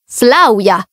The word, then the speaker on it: Flavia: un corso di francese sai la V andrebbe pronunciata u che mi riferisco a Flavia andrebbe pronunciato Flavia ma certo lo so